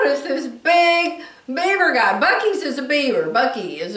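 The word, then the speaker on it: Buc-ee's: could spell it so to me it really says buses but it's pronounced Bucky's and so they've got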